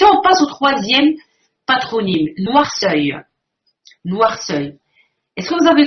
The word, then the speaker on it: Noirceuil: Quand vous fermez les yeux, vous prononcez noirceuil, très bien. On entend noir, on entend la noirceur, comme la blancheur, du noir, vous avez la noirceur. On entend œil.